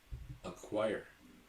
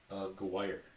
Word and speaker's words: Aguirre: Mark Aguirre. Aguirre. Like Mark McGuire? Almost.